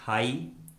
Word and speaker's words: high: Rule number 2 में हम सीखेंगे यदि किसी इंग्लिश वर्ड में आई के बाद जी एच आता है तो उस वर्ड में जी एच कम्प्लीटली साइलेंट होता है, यानी जी एच का किसी प्रकार से कोई भी उच्चारण नहीं किया जाता है।